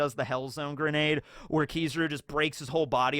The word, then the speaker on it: Kizaru: In fact, the real way I should be pronouncing his name should be Kizaru, not Kizaru, but I like Kizaru.